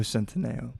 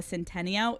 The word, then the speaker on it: Centineo: Is it Noah Centineo or Noah Centeneo? Noah Centineo. I have always said it right, but to all of our bitches on Instagram saying Noah Centeneo, it's Noah Centineo.